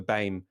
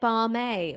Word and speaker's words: BAME: government abandoned the term bain i've been pronouncing it barmay all this time like llama wouldn't then it need